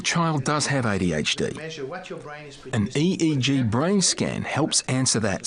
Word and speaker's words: EEG: says an EEG that's an abbreviation we don't pronounce it 8 we say e EG EEG stands for electroencephalograph that's a type of